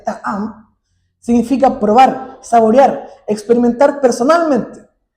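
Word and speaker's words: טעם: En el hebreo original, la palabra gustad, que se escribe y se pronuncia ta'am, significa probar, saborear, experimentar personalmente.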